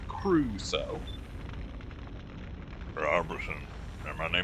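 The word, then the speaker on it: Crusoe: Cru Cruso. Two syllables, not Caruso. Cruso.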